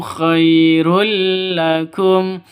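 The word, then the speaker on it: خَيْرٌ لَّكُمْ: Tanwin bertemu dengan lam. Cara bacanya masuk ke lam tanpa dengung.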